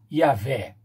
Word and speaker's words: Yahvé: Yahvé, que é um tetragrama YHWH e que se pronuncia Yahvé.